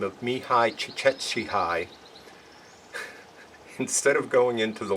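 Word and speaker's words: Csikszentmihalyi: a vocation a gentleman by the name of me hi chick Etsy hi instead of going into the length of how to pronounce that and that is how you pronounce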